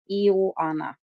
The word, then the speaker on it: Ioana: I know that her Ioana, it's like Joanna, but with an I. Ioana.